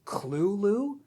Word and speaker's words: Cthulhu: Also, I should mention Lovecraft says the correct way to pronounce it is Clulu, which sounds like a children's cartoon rabbit.